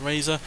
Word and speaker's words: RZR: R said R but it is apparently pronounced Razer and yeah this is